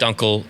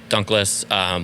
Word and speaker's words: Dunkel: Dunkel, Dunkless.